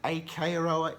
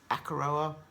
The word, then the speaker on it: Akaroa: week's vlog number one I was pronouncing it a Corolla it's akaroa apologies but anyway here's